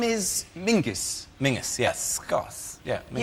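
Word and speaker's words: Menzies: his name is very odd his name is Mingus Mingus yes SC yeah Ming yeah but it's pronounced it's it's spelled m n z i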